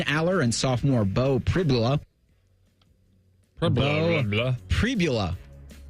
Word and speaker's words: Pribula: Pribula is how you pronounce Pribula. Okay. That's how you pronounce his name.